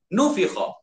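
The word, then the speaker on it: نُفِخَ: Jadi nun huruf pertama dibaca nu. Fa dibaca dengan baris bawah fi. Dibacanya nufikha. Okey.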